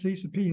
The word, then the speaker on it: Cp: a way to maintain your sanity how to pronounce C subp and C subv pronounce c subv as C